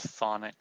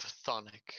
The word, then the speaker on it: chthonic: Pretty sure it's just pronounced thonic steel.